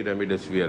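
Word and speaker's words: Remdesivir: जिस मैं दोबारा रिपीट करती हूँ, रेमडेसिविर, क्या मैं प्रोनाउंसिएशन सही? बिल्कुल सही, रेमडेसिविर है ये।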